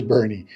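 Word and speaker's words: Boerne: Bernie but it is Bernie so those are three words that are pronounced differently than they're spelled and it's because they have some German influence in them other things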